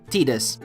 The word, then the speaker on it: Tidus: with the default name, Tidus. Yes, I'll pronounce it this way, as it's the most official pronunciation that we have from the Dissidia games.